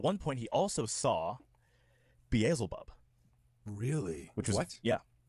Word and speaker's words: Beelzebub: says, my name's well, he says Beelzebub and my friend mispronounces it. And Beelzebub got really, really angry. He's like, no, it's Beelzebub. That's how you're supposed to say it.